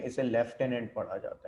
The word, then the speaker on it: lieutenant: है, तो वो जो लेफ्टिनेंट है वो ये वाला है. इसका साउंड अलग है. ठीक है, स्पेलिंग चेक कर लें. इसे लिeutenant भी पढ़ा जाता है और लेफ्टिनेंट भी पढ़ा जाता है.